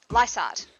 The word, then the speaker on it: Lysart: How do you say that? Lysart. Lysart. I always put the G in there.